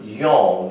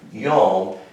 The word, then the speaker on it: yom: what oh four so really what that word yong this is y o w m that's how you say it in hebrew yong and here's what that word means it means